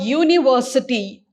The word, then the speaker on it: university: so for example university so when i pronounce this word university the sound what the sound you hear in the beginning